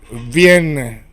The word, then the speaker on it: vient: And then el, you pronounce it Vienne. Like the city of Vienne in French.